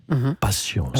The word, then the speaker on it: patience: Patience. Ouais. Patience. Je dis patience parce qu'il y a un S à la fin. Oui, on ne le prononce pas finalement.